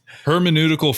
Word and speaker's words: hermeneutical: this is why it's called the pizza effect hermeneutical feedback loop that's the right way to say